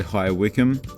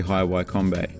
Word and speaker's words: High Wycombe: me from the future i might have mispronounced the word i believe i said hi wickham it's actually highway combat sorry and those were the